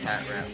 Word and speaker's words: Patrat: Well, it's pronounced Patrat, but okay.